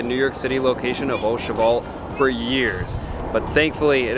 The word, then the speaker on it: Au Cheval: a little embarrassed because back in Chicago I mispronounced the name of the restaurant it's not Asel it's oal Loosely translated oal means to put an egg